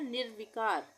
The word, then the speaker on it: निर्विकार: निर्विकार। निर्विकार यानी कि आधे र का उच्चारण भी आ रहा है, तो यहाँ पे र की रेफ की मात्रा लगेगी ये, तो ये हो गया निर्वी।